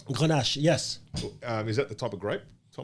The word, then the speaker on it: Grenache: Is that how I pronounce that? Vin Grenache. Is that right? Grenache, yes.